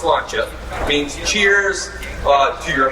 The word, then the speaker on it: sláinte: A lot of people see sláinte all the time. That's like on hats and shirts, you see it at bars. That's how it's pronounced, sláinte.